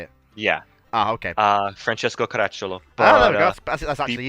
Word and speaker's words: Caracciolo: Is it Caracciolo? Is that how you say it? Yeah. Ah, okay. Francesco Caracciolo.